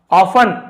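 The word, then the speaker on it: often: में किया गया काम, ऑफन, अक्सर, यहां पर टी को नहीं पढ़ेंगे, लीड्स टू लॉस, जिसे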